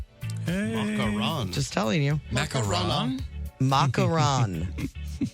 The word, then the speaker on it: macaron: It's not ma It's not macaroon. That's a different macaroon is what I say. It But the That's a different thing. That's a different thing. That's a different cookie. That's a different thing. There are two cookies. One m a c a r o n one m a c a r oons.